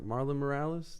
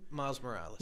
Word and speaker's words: Miles Morales: Marlon Morales, the new Spider-Man game? Miles Morales.